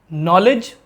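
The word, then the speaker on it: knowledge: KNOW LEDGE, नॉलेज, Hindi में नॉलेज यानी ज्ञान, तो यहाँ पे K साइलेंट है।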